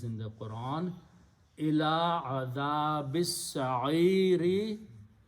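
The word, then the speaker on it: السعير: When you stop, last letter you do not pronounce the harkat on the last letter, ra with a kasra. Instead you pronounce this, don't write, they pronounce as a sukoon.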